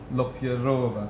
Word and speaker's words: Lopyreva: Lopyreva.